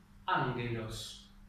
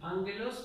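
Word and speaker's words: ἄγγελος: Cuando nosotros tenemos, por ejemplo, una combinación de gamma-gamma, ¿sí? Yo no pronuncio g, sino que pronuncio m, ¿sí? Como en la palabra castellana hongo.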